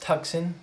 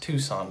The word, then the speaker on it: Tucson: this word right here this is not pronounced tuxen this is pronounced tucson this is a major